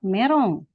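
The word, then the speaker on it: メロン: En ya ini me ro meron karena tidak ada L ya merong.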